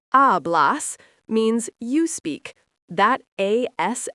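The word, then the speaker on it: hablas: Ablas pronounced ablas means you speak.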